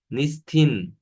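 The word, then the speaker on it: نیستید: O idler konuşma dilinde i'ne dönüşebiliyor. İ ve n seslerine. Nisted, nistin oluyor.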